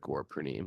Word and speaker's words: Purnima: The actual pronunciation is Purnima. Gaur Purnima. Gaura It's got a Purnima. long A down there in the end.